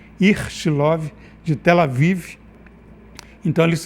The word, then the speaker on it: Ichilov: vive que é o hospital ichilov esse a pronúncia ichilov de tela vive então eles fizeram um estudo